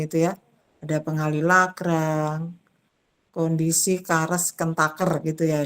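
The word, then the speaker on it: Karush–Kuhn–Tucker: ada metodenya yaitu misalnya di sini tadi ya kemarin itu ya ada pengali kondisi kares kentaker gitu ya ini bacanya kares kentaker teorem ini KKT kenapa ada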